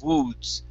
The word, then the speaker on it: woods: Now, when you say this word, you need to open up your mouth. Okay. So, because what you're doing is you're keeping your lips closer together, pronouncing the oo sound. Woods. Okay. So open the mouth, and it'll make it impossible to say an oo. So you'll say woods, woods.